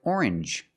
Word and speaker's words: orange: Usually when you see n, it makes the n sound like orange or exchange. You make the n sound, not the nasal sound, just m and the j like juice. J together. Orange. Orange. Or exchange. Change or exchange. You have the same sound.